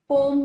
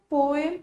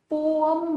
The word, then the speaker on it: poem: British में इसको पोएम ही बोलते हैं, पोएम, पोएम, ठीक है। लेकिन अमेरिकन एक्सेंट में इसको पोअम बोलते हैं, पोअम, अम।